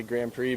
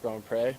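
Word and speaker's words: Grand Pré: lot of people it's easier to just say Grand Prix but it's actually pronounced go and pray yeah ya know I've got a very lucky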